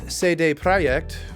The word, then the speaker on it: CD Projekt: CD Projekt Red, or CD Projekt, which is how you say it in Polish, in case you want